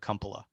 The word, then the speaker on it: Kumpala: want sean uh i my family pronounces it cumpala um i don't know